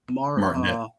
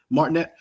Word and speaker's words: Martinet: Martinet. Martinet.